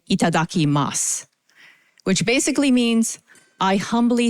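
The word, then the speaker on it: いただきます: you all to please join me at saying itadaki Mas I'm going to pronounce that a little bit more slowly that is itadaki Mas at the count of three one two three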